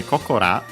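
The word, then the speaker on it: ここら: Yeah, so we actually make, by the way, Kokora, actually accent on the ko. Koko on its own and accented, but yeah, with this ra, it becomes accented on the second ko.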